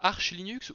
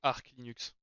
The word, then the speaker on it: Arch Linux: de marque nuxe d'ailleurs tu prononces comme en toi arch linux ou arc linux c'est la bonne question arch linux mais je crois c'est arc la bonne prononciation en anglais d'accord on va essayer